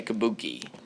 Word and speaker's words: Kabuki: Everybody say Kabuki. It's spelled K-A-B-U-K-I. K-A-B-U-K-I. However, again, only men, because of the rules of their culture, were allowed to participate.